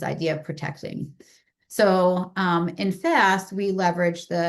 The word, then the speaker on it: FSST: So I'd like to introduce FSST , which is what has prompted this current theory.